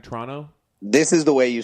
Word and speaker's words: Toronto: Yeah, the production company they're based out of Trono, and they kept calling it like Disney, that Disney movie Tron.